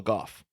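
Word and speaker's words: Gough: played by uh Michael Goff I looked it up apparently he says his name is pronounced like cough so it's Michael Michael Goff go okay yeah yeah I was going to say Alfred Goff but Michael goof um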